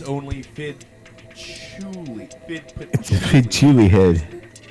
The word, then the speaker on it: Chewley: It's spelled like patchouli, but it's prepended with Fidd, so it's funny.